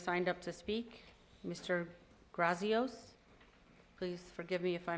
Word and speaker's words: Grazios: Grazios. Please forgive me if I mispronounced your name. You did very well, Madam Mayor. Thank you. Good evening, sir. Good evening. Grazios, 9324 Avenel Lane, Port St.